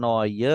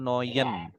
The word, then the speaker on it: neue: Noye atau Noyen? Noi. Noye. Nein, mit Endung E. Noye.